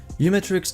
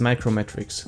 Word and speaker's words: uMatrix: your privacy and browse the web more securely you metrics is technically pronounced as micro metrics same as macro block origin but you metric